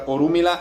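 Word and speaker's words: Orunmila: another thing with pronunciation within spanish you have the r which is going to sound like a little bit like a d in english i guess also me so you have orumila and urula are the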